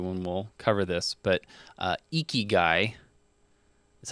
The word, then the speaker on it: Ikigai: shortly after the one we'll cover this, but Ikigai is how you say this. Ikigai, Ikigai.